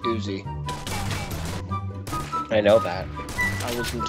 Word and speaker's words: Uzi: I have an Uzi now and uy it's pronounced Uzi I know that I wasn't talking to you I was talking to the noob who just called it uy no I said Uzi you said uy oh my go I have